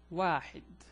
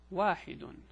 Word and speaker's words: واحد: It's written like that, and it's pronounced واحد or واحد or again واحد.